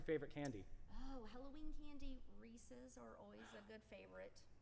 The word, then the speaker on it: Reese's: year they're fantastic but notice how you're saying it correctly reese's because it's a person rhys and they're his pieces or they're his cup so does it bother